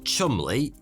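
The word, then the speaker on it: Cholmondeley: without being murdered by germans intelligence officers charles chumley yes weirdly that is how you pronounce that and you and montagu were tasked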